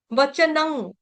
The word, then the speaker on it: वचनं: न के ऊपर जो अनुस्वार है उसका उच्चारण होगा ग। वचनं केशवस्य कृतांजलिर, कृतांजलिर वेप।